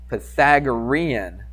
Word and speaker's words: Pythagorean: Close. It's Pythagorean theorem. You basically got it. I would have known what you were saying, but you just didn't quite pronounce it exactly.